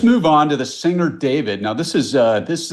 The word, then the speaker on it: D4vd: Well, so what we know is that it's not pronounced D4 VD, it's pronounced David.